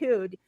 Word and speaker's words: Ehud: Ehud, yeah, Yeah.